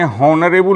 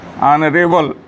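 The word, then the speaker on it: honourable: हॉनरेबल नहीं पढ़ेंगे, इसको पढ़ेंगे ऑनरेबल। यहाँ एच साइलेंट है, एच चुप है, एच का उच्चारण इसमें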